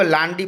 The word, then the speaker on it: lundi: तो हाँ, तो दिव्यम ने जैसा बताया कि फ्रेंच में मंडे को LUNDI, लेकिन हिंदी में इसको लांडी पढ़ा जाता है।